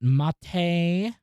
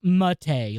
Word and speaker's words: MATE: I'm pretty sure it was Joe Collins was like, oh, it's pronounced Mate, like the T. And it is named after the T, but I don't know.